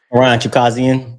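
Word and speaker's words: Chukhadzhian: Chukazian, I think that's how you pronounce it. Yeah, Chukazian.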